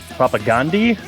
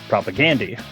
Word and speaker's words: Propagandhi: debate, but uh I think us Americans always pronounce it as propagandhi with the emphasis on the Gandhi part, but I've heard on podcasts that uh they actually the band members themselves pronounce it propagandi.